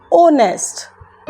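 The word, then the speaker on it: honest: ओनेस्ट। इसका क्या pronunciation क्या होती है?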